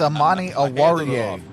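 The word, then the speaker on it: Amani Oruwariye: It's Amani Awariye.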